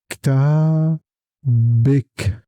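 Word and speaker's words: كتابك: The most important thing is that the letter before kaf always takes a kasra. The kasra sounds like a short e in English. So, listen carefully. kitab bik with kasra kitab bik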